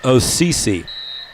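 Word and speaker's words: Osadciw: will be uh Carter osisi is how you say that it's an amazing name o-s-a-d-c-i-w but they tell me it's pronounced osisi remarkable however freedom and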